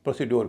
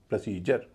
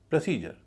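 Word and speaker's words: procedure: पूरे शब्द का उच्चारण होगा प्रोसीजर। प्रोसीजर ना कि प्रोसीडर। यहां डी का उच्चारण ज हो रहा है।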